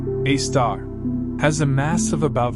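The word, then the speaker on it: Sagittarius A*: The Milky Way's central black hole, Sagittarius A, pronounced A star, has a mass of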